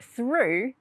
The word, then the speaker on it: through: other side i went through the playhouse so roux that's another word with a different pronunciation it has that ooh sound now we don't find